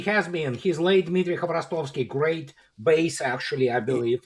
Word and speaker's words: Khvorostovsky: Am I pronouncing it right? Help me, please, Andrei. Dmitry Khvorostovsky.